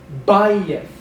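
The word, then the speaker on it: בַּיִת: Bayith, house or a house of worship or a temple. penultimate stress.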